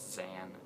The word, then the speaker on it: Xan: And it's a vampire movie, and it's written and directed by, I think her name is Zan. It's spelled Xan.